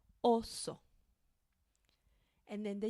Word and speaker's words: oso: Gama espec insecto insecto oso and pay particular attention to this one because I hear some English speakers say it like this also and that's something we don't want to do okay so one short sound oso And then the U.